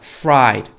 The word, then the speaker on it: fried: fried. 다르죠. P 발음은 프라이드고요. 밑에 있는 fried는요, fried 해서 F 발음이에요.